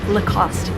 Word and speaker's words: Lacoste: oh the cost cost so no e in the end no cost remember lacoste or if you want